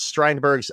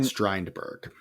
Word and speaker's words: Strindberg: Other plays performed in early 1932 included a pairing of August Strindberg's The Stronger with Jules Romaine's medical spoof Dr. Knock. Strindberg, exciting. I know Strindberg. What did I say? Strindberg.